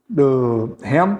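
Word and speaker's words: חן: Ren é a palavra, ren, mas se escreve com CH, C-H-E-N, ren, que significa favor merecido.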